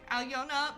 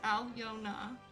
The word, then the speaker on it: Aliona: So me being like, Aliona Baranova, 3 syllables, Aliona.